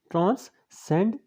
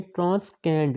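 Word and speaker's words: transcend: इसी तरह से अगर हम ये देखें ट्रांसकैंड, ये सी के बाद अगर ए की आवाज़ आ जाए, मतलब ए स्पेलिंग आ जाए, तो वो क्याफ की आवाज़ देता है। तो कैंड नहीं है, ट्रांससेंड है।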